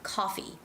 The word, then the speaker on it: coffee: making some copies okay twig loves this word copy copy because they want you to know the difference between coffee coffee a drink a cup of coffee coffee or he's making some copies he's making some copies